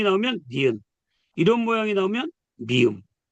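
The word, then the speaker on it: μ: 이렇게 쓰는 거를 우리가 미 그래요. 미. 까미 할 때 미. 글자 얘 이름이 미예요. 그러니까 첫 글자가 미음이죠. 미음 발음. 자음이 되겠죠. 자음. 이런 식으로 어 미가 되는 거예요.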